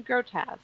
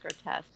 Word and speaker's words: grotesque: she was like it's grotesque it's french so you don't pronounce the ue on the end it's just grotesque we were talking about